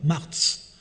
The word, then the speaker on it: Marchio: Voilà, c'est joli, Marchio. Alors, si on est au 7e siècle, au 8e siècle, ça se prononçait vraiment Marz. Marz. Voilà, ils écrivent CIO, ils prononcent Marz.